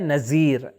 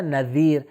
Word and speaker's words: نذیر: صحیح تلفظ کریں، ہمارے یہاں معمولاً تلفظ کیا جاتا ہے نذیر، لیکن جو عربی میں صحیح تلفظ ہے وہ ہے دال ذال، تو صحیح تلفظ ہوگا نذیر.